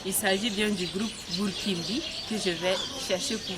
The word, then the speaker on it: Burkin'By: Alors, le jeune groupe dynamique, talentueux, Burkimbi. Bonjour. Oui, bonjour. Bonjour Fabiola. J'espère que j'ai bien prononcé.